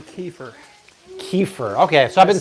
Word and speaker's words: kefir: People are saying kefir.